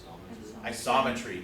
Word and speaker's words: isometry: a stab at it isometry not isometric isometry right isometry a rigid motion maps